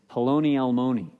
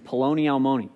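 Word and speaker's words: Peloni Almoni: It's Poloni Almoni. Kind of sounds like baloney, but it's just saying Poloni Almoni. It rhymes.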